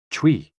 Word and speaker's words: chui: CHUI, pronounced like chui, with a forceful exhale, which is also associated with the kidneys.